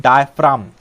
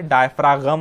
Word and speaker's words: diaphragm: ठीक है, उसे कहते हैं डायफ्राम, डायफ्राम, DIAPHRAGM, जी साइलेंट है यहां पर, डायफ्रागम नहीं है, ये इसका प्रोनाउंसिएशन डायफ्राम है, DIAPHRAGM।